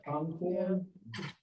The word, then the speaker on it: Concord: 35 states have a Concord. Now, they probably mispronounce it like they do in New Hampshire, but down here, we're in Concord.